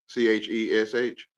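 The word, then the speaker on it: cześć: It's Chesh. like Spanish. CZESC. Mm. Or Chet pronounces Just, Chesh.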